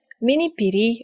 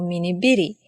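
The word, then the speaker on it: මිනිපිරි: Next word, Minipiri or Minibiri, meaning granddaughter. You can say Minipiri or Minibiri. Some people pronounce it as Minipiri and some people pronounce it as Minibiri.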